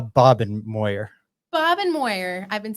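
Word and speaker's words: Bobenmoyer: ugly special teams play is it bobbin meyer or bobenmeyer uh bob and moyer bob and moyer i've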